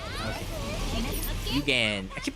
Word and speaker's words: Eugen: Where is Prince Eugene? Okay. Yugen. I keep pronouncing her name as Prince Eugene.